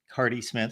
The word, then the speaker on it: Carde: knew how to pronounce I probably did the cardi Smith yeah cardi Smith so I messed up on that I should have known there's an e at the end but uh yes cardi